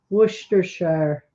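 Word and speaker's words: Worcestershire: it blue or not Mark says my pronunciation isn't even close it's supposed to be worshire it's amazing how many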